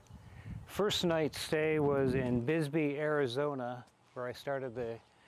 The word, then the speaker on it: Bisbee: I'm gonna call that Bisbee every time, and it's Bisbee.